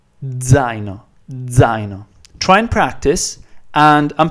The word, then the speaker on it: zaino: So D and Z have to kind of merge and get together and come out at the same time, and it should pretty much sound like Z, a very over pronounced Z, Z. Zaino.